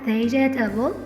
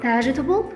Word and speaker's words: vegetable: أول واحدة الناس بتقولها vegetable، طبعا لأ، الصح بتاعها vegetable، والإي الأخيرة أنا مش بنطقها، وطبعا بمعنى خضار.